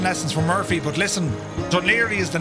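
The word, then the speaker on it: Dún Laoghaire: That's called Duniri. Uh, it's always funny when you look at the name of how it's spelled, Dunlakari. H, but Duneri is how you pronounce it.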